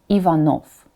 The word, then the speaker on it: Ivanov: Latin or English spelling that is because the final is pronounced as Pho all the time Ivanov now let's do it